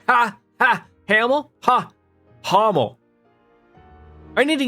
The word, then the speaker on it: Hamel: to a place called Hamill ah Hamill it's pronounced like ha not ham Hummel like ha ha Hamel ha Hummel I need